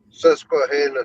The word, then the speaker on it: Susquehanna: I think I pronounced that right, didn't I? Yes. Susquehanna Stan.